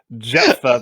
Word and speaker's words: Jephthah: If I'm going to be nitpicky, Japheth was the third son of Noah. Jephthah was the judge we talked about last week. Thank you. Sorry. My pronunciation is on point tonight. Jephthah, thank you.